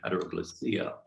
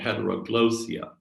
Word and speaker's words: heteroglossia: This term is pronounced two different ways. I have the pronunciation of heteroglossia. It also is called heteroglossia.